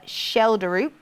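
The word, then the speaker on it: Schjelderup: It is actually pronounced the left winger that was being spoken about earlier, Schelderup. Oh, Schelderup.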